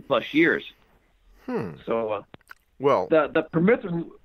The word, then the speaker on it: permethrin: It's called permethrin. Am I pronouncing?